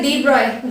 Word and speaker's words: de Broglie: सो read it as a de Broglie, though it looks like a de Broglie. Okay, its correct pronunciation is de Broglie.